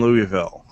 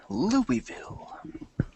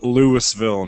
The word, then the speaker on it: Louisville: leave it that and Louisville fantasies just don't call it Lewisville no matter what you do I know it's spelled that way but yeah it's it's